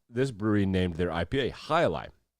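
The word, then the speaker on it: Jai Alai: brewery named their ipa hilai uh which sounds like hi-li if you if you pronounce it correctly it's cigar city brewing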